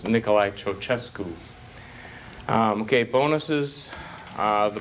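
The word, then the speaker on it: Nicolae Ceaușescu: name this communist dictator right see yourself okay I it's you have it the way it's spelled it's not pronounced like that it's Nikolai chochesku um okay bonuses uh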